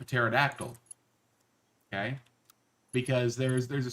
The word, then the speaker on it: pterodactyl: We don't do a word that starts with PT. You can't do that. You have to drop a P.